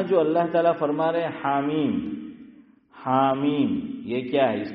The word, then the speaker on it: حم: نہیں صحیح نہیں، الگ الگ ہوگا۔ دیکھو میں لکھوں ہا اور میم، اس کو پڑھا جانا چاہیے حام۔ کیا پڑھا جانا چاہیے؟ حام۔ جیسے الف لام، چلو